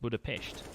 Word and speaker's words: Budapest: yep it also met just so you know it's actually pronounced Budapest always good rain waker